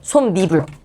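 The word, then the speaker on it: 솜이불: 근데 이것을 발음할 때 사람들이 소미불이라고 안 해. 솜미불이라고 합니다. 솜불. 앞에 있는 말은 받침이 있고 뒤에 있는 말은 이로 시작해. 그럼이 사이에 니은 들어가서 니불이 되는 겁니다. 솜 니불.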